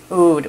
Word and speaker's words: Oud: Oud. We're just going to say Oud, okay? And when it's like A-O-U-D, it's going to be Oud.